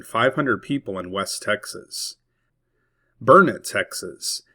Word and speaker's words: Burnet: Burnet, Texas. It is not pronounced Burnett like how it is spelled.